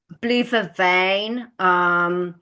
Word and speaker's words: blue vervain: How do you pronounce it? It's blue veve. Blue vervain.